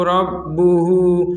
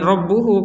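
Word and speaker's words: ربه: Dikhawatirkan ada orang yang berhenti di rabbuh kemudian dibacanya idh qala lahu rabbuhu. Nah, berhenti kemudian nafas atau kemudian bersin. Nah, ini jangan rabbuhu, kalau mau berhenti rabbuh.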